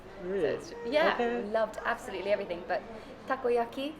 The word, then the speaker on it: takoyaki: loved absolutely everything but takoyaki am I saying pronouncing it properly yes it's a utopus bow